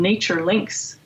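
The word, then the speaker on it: NatureLynx: institute abmi is called nature links and lynx is spelt unexpectedly l y and x like the animal so nature links is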